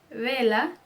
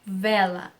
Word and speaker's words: vela: No espanhol, ele vai ser pronunciado como B. Como B do espanhol. Então, por exemplo, é vela, não vela. Vela, tá, vela, não vela, ok? É avião, avião, não avião. É vaca, vaca, não vaca.